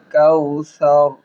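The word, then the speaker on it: كوثر: মধ্যে চেপে ধরব আইনাকাল কাউসার কাউসার সা একদম নরম হবে কাউসার সিনের উচ্চারণ না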